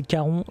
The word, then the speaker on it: Charon: Et un lance-roquette Caron. Oui, ça s'écrit Charon, mais c'est Caron comme le passeur. De la mythologie grecque, s'il vous plaît, et on prend 009 de prime.